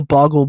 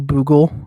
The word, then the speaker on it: Boggle: I still don't understand how people mispronounce that, because even though, yes, obviously my name is completely fictional, it's like there's only one O. So how people kept saying Boogle when it was clearly an O, Boggle, I never understood that.